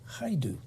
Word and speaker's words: Hajdu: for all of that criteria, the Honorable Patty Hajdu. Did I pronounce the name correctly?